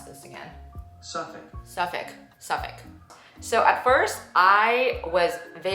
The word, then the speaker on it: Suffolk: At first, my new Suffolk, how do you pronounce this again? Suffolk.